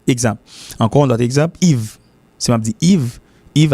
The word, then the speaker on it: Yves: Le l'accompagne avec l'autre lettre, et puis il prononce comme I. Exemple. Encore un autre exemple, Yves.